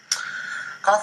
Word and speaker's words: kaph: With the dagesh, Qoph sounds like the letter K in king. Without the dagesh, Qoph might best be thought of as making the same sound as the letter chet, though early on in